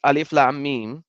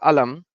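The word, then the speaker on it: الم: agree in Surah Bak we have to read alif Lam me not Alam then Nan Ali Khan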